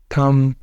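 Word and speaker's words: thumb: B comes after M जब एम के बाद बी आया करेगा ना उस वक्त इसने साइलेंट होना करना है जैसे पहला है हमारे पास लैम कॉम थम लिम क्लाइम यहां पर यह क्या है कि सबके अंदर क्या है लेटर बी साइलेंट क्योंकि वह आ रहा है एम के बाद एम के बाद आ रहा है तो लेटर बी होगा साइलेंट दूसरा है रूल हमारे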